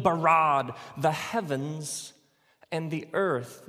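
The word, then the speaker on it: בָּרָא: now the word for create is the word bara let me hear you say bara it's this forceful energetic word of making things out of nothing in the beginning elohim barad the heavens and the earth now the earth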